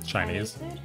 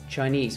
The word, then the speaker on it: Chinese: Chinese. Chinese or Chinese? Chinese. Which syllable do you put the emphasis on?